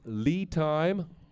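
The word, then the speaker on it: LiTime: Another one is Lee Time. That's spelled L I Time.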